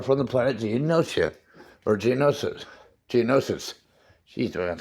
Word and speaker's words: Geonosis: Geonosians are from the planet Geonosia, or Geonosis.